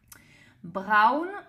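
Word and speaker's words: braun: Brown au ain au se prononce au donc brown marron brown orange super facile comme en français orange.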